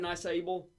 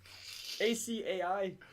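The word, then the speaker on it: açaí: have you ever had nice able oh my god i kind of pronounced that what was that acai got a little weird symbol underneath the c i love the eyes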